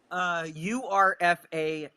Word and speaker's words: URFAV: Urfa. It's URFAV. So Alex pronounces it Urfa, but Eloquence pronounces it differently. It acts like Alex acts as if that V isn't there.